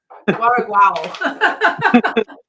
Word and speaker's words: Guaraguao: No, I keep saying it wrong. Guaraguao.